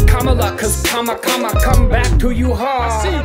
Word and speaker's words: Kamala: can handle it means lus in Sans not camela doesn't rhyme with Canada cabinet going to be camela no koala don't say Cala that has to stop it's comma cuz come back to you Paris WS is